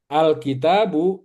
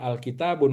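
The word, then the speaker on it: الكتابُ: Jadi ini ee alkitabu tidak boleh dibaca alkitabun. Kenapa? Karena ada alif lam gitu ya.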